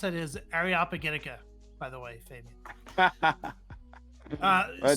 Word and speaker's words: Areopagitica: years to figure out that the way you pronounce it is areopagitica by the way Fabian uh so uh oh